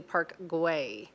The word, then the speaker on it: Park Güell: In Catalan, Park Güell is pronounced roughly Park Güell.